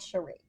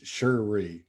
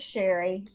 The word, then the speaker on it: Cherie: in missouri right so i was never called cherie it's sheree um yeah so it's just sherry well i've known people that spell it that way and they some pronounce it